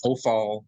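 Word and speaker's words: Hophal: The Hofal, or the H-O-P-H-A-L, Hofal stem, pronounced the same way, just different spellings in the English version.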